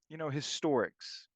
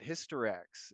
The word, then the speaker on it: Historics: to, but also like, historics. Mhm. That's how I pronounce historics with the X at that end. but I'll hear people call it Hysterex, and I'm like, man, Hysterex.